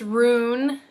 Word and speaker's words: Jen: They were Jinzu, Jen, which is actually pronounced Rune, it's spelled Jen.